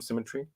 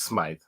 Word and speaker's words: Smythe: Symmetry, I think. No, it's Smythe. I gave it away. I gave away your name. Now everyone's going to look you up. Smith in Canada is spelled with a Y.